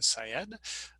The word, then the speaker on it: Syed: an m and my last name syed is like psychology educator sy ed so syed i